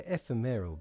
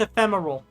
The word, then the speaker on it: ephemeral: Their ephemereral being leads to no relevant outcome. Ephemeral. Boss, we cannot keep doing this. You keep mispronouncing words. It's pronounced ephemeral.